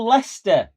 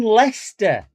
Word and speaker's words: Leicester: He's from Leicester. No, Lester. No, Le. It's He's from Lester.